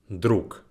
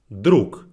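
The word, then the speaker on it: друг: let's get right into this first word is druk druk which means friends make sure it's repeat after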